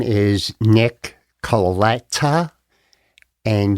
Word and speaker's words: Colletta: My name is Nick Colletta, and you pronounce it the way it is spelled if you do it through the hyphens. Colletta, Colletta, T-A, Colletta.